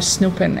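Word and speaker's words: snoepje: smell it like Snoop maybe maybe but no it's spelled differently and it's s n o e p j e Snoop or snooping and it's a verb actually a verb great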